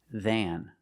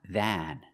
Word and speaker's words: than: If you say the word alone, if you say the word by itself, it's pronounced than. You see the a, it's not a normal short a sound like black cat. It's not than, than. It's longer and it goes in your nose. It has a nasal sound.